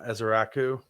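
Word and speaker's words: Ezeiruaku: Yeah, Ezeraku. That's how you pronounce it.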